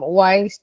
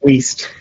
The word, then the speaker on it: Weist: So, today, uh, we have John from Weiss, uh, Business Law. Uh, did I pronounce it correctly, John? It's Waste.